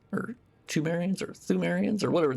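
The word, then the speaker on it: Pthumerians: This is just a general world lore type thing of of the the thumeriants or tumarians or thumes or whatever. The P is silent basically, but that's like the ancient race that found uh the old blood first or whatever.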